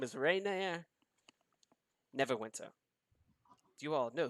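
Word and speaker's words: Renaer: promos right there he says my name is Reina Neverwinter do you all know who I am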